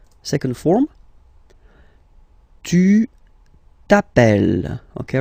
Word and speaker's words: appelles: All right, second form, tu t'appelles. Okay, remember, final S not pronounced, tu t'appelle.